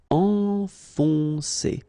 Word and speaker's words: enfoncer: you look carefully, first you've got this nasal, en, and after that you've got another on. Enfoncer, enfoncer. Envelopper.